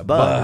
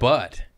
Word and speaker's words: bud: And But it's bud, right? Nip it in the bud. Yeah. Yeah. Wait, it's But I like butt.